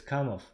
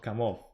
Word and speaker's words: Kamov: It's just since I'm Russian and I know the real pronunciation, and the real pronunciation of this manufacturer is Kamov, not Kamov.